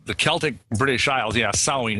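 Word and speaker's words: Samhain: celtic british isles yeah sewing it spelled samh a IM but we say it as sewing and yeah that's the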